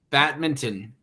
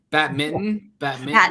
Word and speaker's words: badminton: mittens bacon it's bats badminton badminton no it's not Batman it's badminton badminton I don't really know I can't even see it you don't really pronounce the N I know now I'm